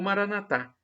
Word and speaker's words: Maranata: e agora eu clamo Maranata como dizem os nossos irmãos protestantes ou evangélicos nossos irmãos separado Nata e se pronuncio com a tônica na penúltima sílaba ou Maranatha como pronunciamos nós católicos com a tônica na última sílaba não importa o significado